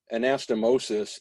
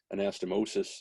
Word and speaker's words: anastomosis: and by the way anastomosis sis is singular anastomoses where it's ses that would be plural so if if it sounds like i'm crazy because they keep changing the pronunciation there's a reason for that anastomosis is single and s anastomoses is plural so there are a